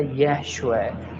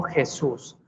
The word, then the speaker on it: Yeshua: Su nombre fue originalmente en hebreo y tiene una pronunciación que no debería modificarse de idioma a idioma. Su nombre era Yeshua, no Jesús.